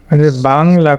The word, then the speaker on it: Bangla: এরপরে এরপরে দেখাবো বাংলাটা, দেখো এখানে এখানে বাংলা করি, বাংলা, এটাও কিন্তু ব্যাং হবে না, তখন হবে বাংলা। এখানে কিন্তু এই যে আ সাউন্ড আছে, এই বাংলা, লাটা সোয়া সাউন্ড হবে বাংলা।